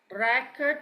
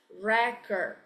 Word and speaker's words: record: okay we have another one record Okay record record tear when a noun we pronounce record and then when it's a verb still spell